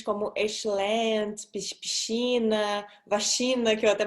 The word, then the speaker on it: excelente: E eu sei que vocês brasileiros têm os ouvidos um bocadinho a sangrar quando eu digo excelente, porque eu comi todos os es, mas é mesmo assim que os portugueses o vão pronunciar.